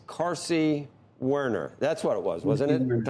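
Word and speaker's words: Carsey-Werner: It's Carsey Werner.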